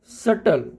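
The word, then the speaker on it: subtle: व ट रहता है और टी से पहले अगर बी हो तब भी बी साइलेंट रहता है जैसे डेट डेट का मतलब कर्ज डाउट सटल तो इनमें बी जो है वो लिखा हुआ है बट फिर भी हम उसको बोलते नहीं है और ओनली हम टी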